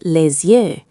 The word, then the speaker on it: les yeux: One eye is l'œil, but two are les yeux. Just remember the Z-U-E sound for the plural.